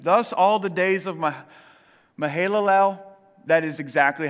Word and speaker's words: Mahalalel: Thus, all the days of Mahalalel, that is exactly how you say it, by the way, were 895 years, and he...